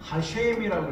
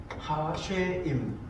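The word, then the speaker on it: השם: 이런 데 가시면은 이제 이 단어를 어떻게 읽으냐면은 이게 헷갈리니까 요 하나님의 이름이 나왔을 때는 뭐라고 읽었냐면 하쉐임이라고 읽어요. 하쉐임.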